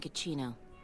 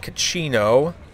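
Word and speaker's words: Cachino: So let's go ahead and see if we can find Cacino. Rhymes with cappuccino.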